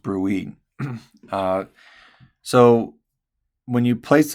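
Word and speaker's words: bruit: If you hear a turbulent sound because of plaque, then it's called a brewy. Okay. Pronounced bruie.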